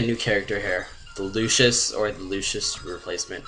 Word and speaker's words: Lucius: Yeah, I pronounce it Lucius, because I feel like the C is pronounced as like a S-H. Like Lucius. Like, when it's in the middle like that.